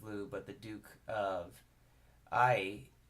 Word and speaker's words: Ai: but the Duke of I which is spelled a I and it was at